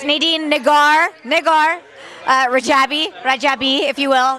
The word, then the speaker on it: Rajabi: with Nadine yes Nadine nagar niggar uh richabi rajabi if you will it's a bilingual right that's